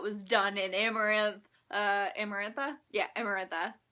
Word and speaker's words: Amarantha: Uh, Amarantha. Yeah, Emarantha.